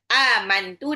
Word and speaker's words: amantu: Amantu nah itu juga enggak boleh dibaca amant enggak boleh jelas sejelas itu. Nunnya harus di samarkan enggak boleh terdengar nun. Aman. Nunnya itu kayak mau lompat ke makhrajnya ta. Inni amantu birabbikum fasmaun.